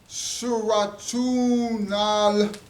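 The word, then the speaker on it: سورة النحل: And the brothers and the sisters have named this chapter Suratun Nahl.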